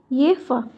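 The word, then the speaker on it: Jefe: इसका प्रोनाउंसिएशन होता है येफा।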